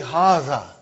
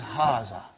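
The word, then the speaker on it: هٰذَا: See, it is pronounced like Haza. But this alif is not written. It is explained in the key also. So it is Haza.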